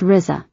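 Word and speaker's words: RZA: her adorable little boy RZ Athlon mayor pronounced Rizza 9 months after R's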